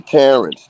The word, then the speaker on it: Terrence: uh Howard got okay Terrence Terence rhymes with Clarence so wasn't you in